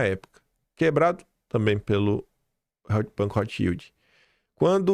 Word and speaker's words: Rothschild: foi emprestado pelo Banco Rothschild. Não é Rothschild, é Rothschild que se pronuncia.